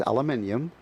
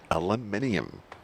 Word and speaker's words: aluminium: yes yeah words he says he can't even pronounce it the way you do it's aluminium aluminium how about Jaguar Jaguar all right yeah now